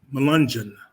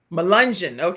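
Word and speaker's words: Melungeon: give you the uh correct pronunciation of the word it's melunjan malungen necessarily by the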